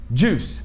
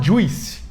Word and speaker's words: juice: Só que tem esse I e todo mundo fala juice. Juice. Só que esse I não é pronunciado. É juice. Juice. E termina com CE e tem o mesmo som de police. Então, termina com S, o som de S.